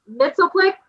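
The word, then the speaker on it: Mxyzptlk: Mitzelplick, is that how you say it?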